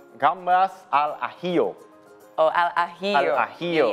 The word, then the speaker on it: gambas al ajillo: Can you pronounce it for me? It's, if I'm not wrong, it's gambas al ajillo.